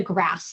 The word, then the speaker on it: GRAS: We call this the GRAS list or the GROS list, depending on how you pronounce it.